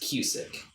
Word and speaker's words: Kusick: the last name is cusick and now and how i always tell people it is spelled and pronounced the same way as like music but with a k on each end perfect now if i'm